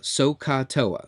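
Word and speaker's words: SOH CAH TOA: We'll say so, S-O-H, we'll pronounce it so. This is ka, and this is toa. So-ka-toa, so-ka-toa.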